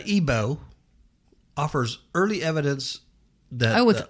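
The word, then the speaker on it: Aibo: which was made by Sony hmm he says ebo offers early evidence though with I bow I pronounced I know we're gonna love robots it's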